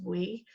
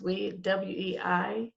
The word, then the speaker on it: Wei: The person name I think is Wee. She lost her mother, and our condolences to you. Absolutely, absolutely. And so what was her name? I think Oh, it's pronounced Wei. okay.